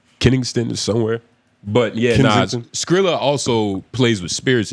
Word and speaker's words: Kensington: Is it Kennington? It's somewhere in You're Philly. pronouncing it wrong, but I think that is the right place. Kennington is somewhere. But yeah, Kensington.